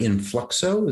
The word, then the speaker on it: Influxo: director and now you're the the director at Influxo. Did I pronounce that correctly?